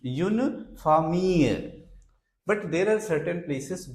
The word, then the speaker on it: famille: Another word, F-A-M-I-L-L-E. Here again, pronunciation of double L is not L, it is Y. So, une famille, a family. une famille.